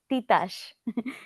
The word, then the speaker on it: Titash: Uh, Titash, Titash, Titash. Okay, Titash. Okay, nice, nice. Titash, Thank you. not Tita. So It's Titash.